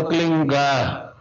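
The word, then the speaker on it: क्लीं: है, किलोमीटर में फैलेगा, उसका होता है एक शब्द क्लीन शब्द, क्या आधा ला में मिला हुआ, बड़ी की मात्रा और बिंदी, उसका उच्चारण होगा क्लिंग गा, गा की ध्वनि निकलेगी पीछे।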